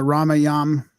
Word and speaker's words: Ramayan: So a lot of it is centered around the Ramayan. I'm so used to pronouncing it with the A at the end, it's hard to stop that.